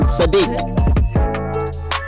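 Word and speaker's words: Saadiq: Sadiq.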